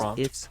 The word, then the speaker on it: IFTTT: Hey, it's Trip with IFT, and I want to pop in to show you. Now I know how to say it. If this and that, it's just called IFT.